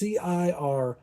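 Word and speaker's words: Cirith Ungol: Anyway, now this is Citrical Ungol. I don't know how to pronounce it. It's Cirithungol.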